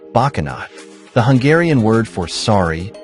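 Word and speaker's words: Bocsánat: His typical catchphrase is to say "Boxanat," pronounced "Bakanat," the Hungarian word for sorry or excuse me, to everything said to him in English.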